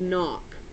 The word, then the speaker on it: knock: it's n a and it sounds like it starts with an N the problem is it doesn't start with an N okay this word starts with a K has a silent k okay it looks like